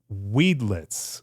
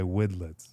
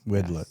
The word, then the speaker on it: Widlitze: And then we have a special guest, Weedlets. Oh, no. We wedlets. Goodlets. Okay. The worst. John's going to kill me for that. The worst I've ever gotten is wildlife.